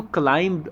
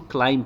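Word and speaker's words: climb: इसको क्लाइंब मत पढ़ना, इसको क्लाइंब पढ़ना है, यहाँ पे बी साइलेंट है।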